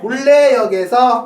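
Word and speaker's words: 문래역: 문 하기 발음이 힘들거든요. 어떻게 돼? 그래서 다 물레라 그래. 물레역에서 물레역에서 내리면 걸어서 예, 10분 걸리는 10분 걸리는 거리에 거리에 있습니다.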